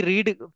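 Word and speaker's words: read: मैंने किताब पढ़ी तो पढ़ना की रीड स्पेलिंग वही रहती है। प्रोनाउंसिएशन होता है रेड।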